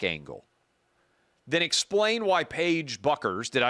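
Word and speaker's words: Bueckers: But she's an attractive 6-foot women's basketball player, white girl, and nowhere near, Beckers is how you pronounce her name, nowhere near the draw that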